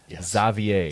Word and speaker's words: Xavier: Uh Colin Bryce called Xavier with his name spelled the normal way that Xavier is spelled. Zavier.